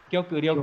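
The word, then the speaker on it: 極力: kiểu cự Phải là gì đây? Kyoku chứ. Kyoku ryoku.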